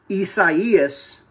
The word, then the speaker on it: Isaias: And as we're at the computer, let me show you the latest on Tropical Storm Isaias. That's the correct pronunciation.